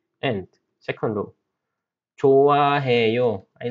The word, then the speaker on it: 좋아해요: So 좋아해요. 흐 and 응 looks similar, right? So when 흐 moves the place, then it disappears. 그래서 좋아해요. Pronunciation is just 좋아해요.